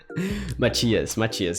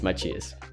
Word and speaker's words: Matias: Like you can see in the end, Matthias, it's the right way to say, guys. Matias in Portuguese, Matias.